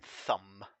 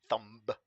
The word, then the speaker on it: thumb: thumb there it is does anyone pronounce the b in thumb thumb these Gundams are more